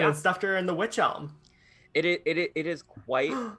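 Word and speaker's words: wych elm: helm and now the witch elm i should i should also say it's not spelled uh like spooky witch it's spelled w-y-c-h so just put that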